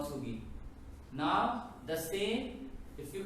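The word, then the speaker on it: 서기: This is what we call Moa Sugi.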